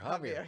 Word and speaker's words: Javier: Javier. Yes. Yeah, the J is silent.